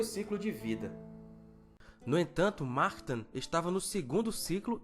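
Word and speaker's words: Mahtan: Martan se pronuncia assim como o Nacht, de alemão, que significa noite. Portanto, não é Matan, é Martan.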